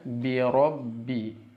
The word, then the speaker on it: birobbi: Lanjut ke kata berikutnya, birobbi. Birobbi. Di sini kasrohnya perhatikan, jangan sampai b tapi bi.